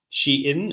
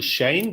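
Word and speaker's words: Shein: online shopping app uh she in or Shane depending how you prefer to pronounce it and it's fascinating to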